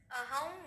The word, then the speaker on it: অহং: চতুর্বিধার আহম তে অনুস্বার আছে আনুনাসিক এর মত উচ্চারণ করবো অহং বৈশ্বাস নরো ভূত